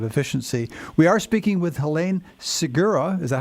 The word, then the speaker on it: Helene Segura: We are speaking with Helene Segura. Is that how it's pronounced? Yes, sir. Helene Segura, the author of The Inefficiency Assassin.